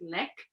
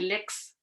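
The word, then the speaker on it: ལེགས: You won't hear it from the word lek, although in Ladakh they would say lex, so you could hear it in when they speak Tibetan in areas such as Ladakh and Zanskar, where some of the silent letters are spoken. Then they would say lex, so that means good.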